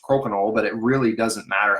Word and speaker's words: crokinole: how you pronounce it it's pronounced koknal but it really doesn't